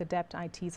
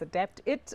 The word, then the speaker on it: Adapt IT: Just a few of my colleagues the other day were debating whether it's Adapt It or Adapt IT, and I said Adapt IT.